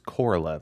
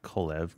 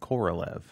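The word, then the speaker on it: Korolev: i did mispronounce it it's koralev not kolev koralev but you go to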